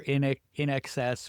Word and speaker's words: INXS: Google Michael Hutchins or in excess, which is spelled INXS.